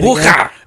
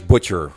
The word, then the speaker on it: Bucher: It's always Butcher, Yeah, and Butcher. there's no T in there, but they do Butcher, and I'd say maybe 2% get it correct.